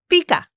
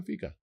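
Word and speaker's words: fika: Fica. Fica. Fica. Fica is easy. It's spelled f i ka and it's a Swedish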